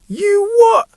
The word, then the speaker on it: you what: Notice how I stressed what, and I pronounced you with a weak form. You what? And many Brits will use the glottal stop at the end instead of a T.